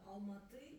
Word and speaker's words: Алматы: Нет, там переводится алма это яблоко, алматы яблоневый. No, Alma Ata. Алма-ата это русское произношение. Алматы.